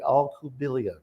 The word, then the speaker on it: Alcubilla: first of all had to make sure i pronounced your name correctly all kubelia correct that's right and um i've been trying